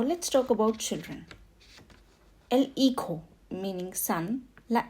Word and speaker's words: hijo: El hijo, meaning son. La hija. In Spanish, JA is pronounced as ka, meaning hijo. Hija. Remember, in the previous class, you must have learned that H is always silent.